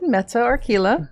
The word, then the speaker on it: Metta Archilla: Did I pronounce that right, first of all? You did. Metta Archilla.